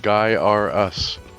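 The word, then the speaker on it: Gaiares: It's pronounced Guy R Us.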